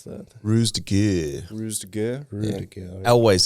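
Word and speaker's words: ruse de guerre: I don't know how to pronounce that. Ruse de Gurre.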